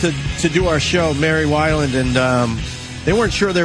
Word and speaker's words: Weiland: But it's Weiland.